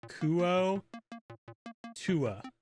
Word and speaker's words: Kuo-toa: like that absolutely 100% Forgotten Realms link says it's pronounced kuo Tua I'm not too off